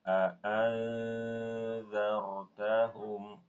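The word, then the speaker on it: أأنذرتهم: Perhatikan pada kata a'anzartahum. Di situ ada hukum ikhfa, nun sukun ketemu zal. Cara bacanya, Ibu, bukan a'anzartahum. Itu suaranya eng soalnya. Tapi suara ikhfa'nya a'anzartahum di ujung lidah.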